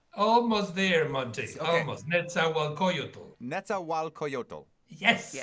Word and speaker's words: Nezahualcóyotl: Nezahualcóyotl. Nezahualcóyotl. Yes. Nezahualcóyotl. Okay, 6 syllables. That's what I remember.